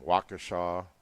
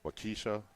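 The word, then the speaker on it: Waukesha: different names uh Shena um wakashaw some people say wakisha so oh yeah yeah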